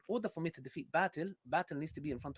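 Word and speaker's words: باطل: Yeah, by the way, it's batil, not batil. It's batil, which means falsehood, by the way.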